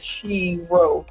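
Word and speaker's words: shiro: the sheta wat now I said she row but you know you got to roll your R when you speak in other languages s h i r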